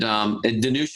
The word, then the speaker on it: Danusha: So it's spelled Dan, D-A-N, and then ouch, like you stub your finger on something, and then A on the end. So Dan Oucha.